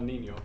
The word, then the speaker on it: niño: El Niño. Good. The N is Nia. El Niño.